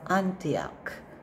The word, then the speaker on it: Antioch: nikolas nikolas next one go of anti of antioch so we say nikolas of antioch next word